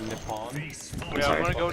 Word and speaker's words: Nippon: It's actually pronounced Nippon.